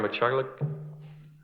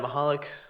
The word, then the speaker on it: Mahalik: you thank you sir machik hope I pronounced that well no one ever gets oh sorry uh my name is mahalik from 294 Central LA